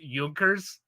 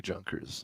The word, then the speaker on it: Junkers: I like this one it's spelled like the word Junkers but it's German so I think it's pronounced yonkers Adam is that is that accurate might actually be Junkers I'm not sure well